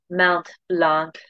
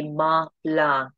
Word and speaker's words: Mont Blanc: uh French pronunciation which you don't pronounce the last letter of each word you can say Mount Blanc if you prefer whatever's